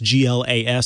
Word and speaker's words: GLAS: Johnson Controls is removing Microsoft's Cortana from the GLAS. That's GLAS, so you do have to say it like that.